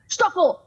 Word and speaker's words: Stackel: I'm like, okay, and he would yell my name, and in Hungary, the S is pronounced SH, so he'd be like, Stackel, Stackel, Stackel, Stackel.